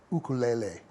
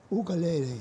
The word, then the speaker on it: ukulele: pop popularize the uh I'll use the correct Hawaiian uh pronunciation ukulele ukulele is what they they